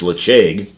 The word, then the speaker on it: Ledaig: used to call it ledee be the name you think it's leg and then you're told no the D is a CH it's l'chaim and when we were